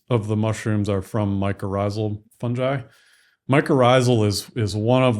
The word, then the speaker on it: mycorrhizal: Mycorrhizal.